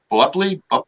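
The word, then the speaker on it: Boepple: like with beatrice buckley the way hers is called is b-o-e p-p-l-e so it was you see it written in front of you and it's like bubbly and we joke we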